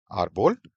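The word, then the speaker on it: árbol: According to rule इसमें जो natural stress है वो यहां होना चाहिए पोल पर। लेकिन नहीं अगर आप इस वर्ड को सुनेंगे किसी नेटिव स्पीकर को सुनेंगे तो यह स्पेनिश में यह वर्ड करेक्टली बोला जाता है आरब। आर बोल्ड यानी कि स्ट्रेस पहले वाले सिलेबल पर है।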